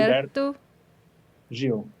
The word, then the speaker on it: Gilberto Gil: Joe and I need help pronouncing Gilberto Gil. Am I saying it correctly? Gilberto, but like the O sometimes sounds like a U. So it could be Gilberto Gil. Gil. Gil. Gilberto Gilberto Gil.